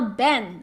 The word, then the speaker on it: 本: 本日本 Alright, by the way, ben is now ben, alright? Ben, like en, is pronounced as as in taken, alright?